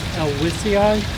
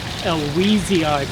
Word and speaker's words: elwesii: people would pronounce it Elwesii because Mr. Elwes did not have a cold, he was not wheezing.